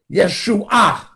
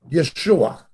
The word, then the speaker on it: Yeshua: now understand aramaic is similar to hebrew salvation yeshua jesus an abbreviated form of joshua yeshua yeshua yeshua his name means salvation and the